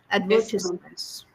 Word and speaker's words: advertisement: a very interesting one advertisements yes ma'am advertisements know uh first of all let me tell you the pronunciation it is advertisement advertisement ad V stresses on